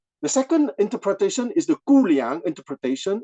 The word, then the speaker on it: Guliang: The second interpretation is the Guliang interpretation. It's written G-U-L-I-A-N-G. In the Pinyin transliteration system, the G is pronounced as a K. So even if it's G, it's Guliang.